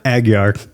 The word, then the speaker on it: Aguiar: Is it Aguiar? Aguiar.